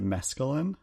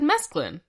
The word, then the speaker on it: mesclun: But to go back with the other burger, I think you pronounced it mescaline. I said mesclun. Okay, I just thought you pronounced it mescaline, like the drug.